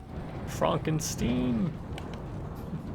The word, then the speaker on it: Wolfenstein: WolfenSTEEN.